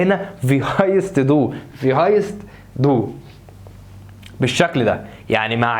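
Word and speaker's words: heißt: قال لك لتخفيف النطق في اللغه الالمانيه وكل ما يكتب ينطق ما بقولش هايسست. خدناها واحنا شغالين في هايست دو، ينفع اقول له في هايسست دو؟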